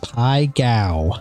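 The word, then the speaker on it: Pai Gow: It's called Pai Gao. That's how you pronounce it.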